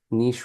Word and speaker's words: niche: So Chandler says niche rhymes with quiche and should stay in France, or niche is a hole in the wall.